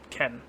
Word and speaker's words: Qen: Ken. Okay, cool. Let me put that on the thing here. Yeah. Ken. Like K. It's spelled Q-E-N.